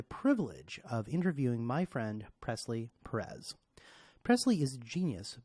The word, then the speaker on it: Presley: So, Presley, thanks for coming in, and it is Presley, right?